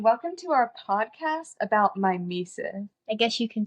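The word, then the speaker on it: μίμησις: The English word mimesis is derived from the Greek word, spelled me, iota, me, eta, sigma, iota, sigma, pronounced mimesis.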